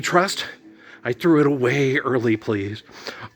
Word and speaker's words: Earl: I threw it away early, please. Earl rhymes with girl.